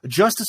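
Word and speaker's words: Justus: can look him up justice is spelled j-u-s-t-u-s I always thought he was Justice like for justice in America g-u-s-t-i-c-e but no it's a U.S pronounce the same um you know you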